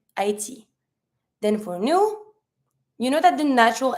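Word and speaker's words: nous: she L we we say new don't pronounce the S you V don't pronounce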